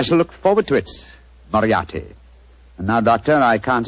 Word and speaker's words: Moriarty: Dear me, I have so much trouble with my name. People will either misspell it or mispronounce it. I'm afraid I'll have to begin calling it the way it looks. M-O-R-I-A-R-T-Y. Moriarty. Moriarty. I shall remember that name.